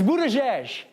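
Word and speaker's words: Buttigieg: that's what that is it's Buddha jesh but now that we're on the same page on how to say his name what has he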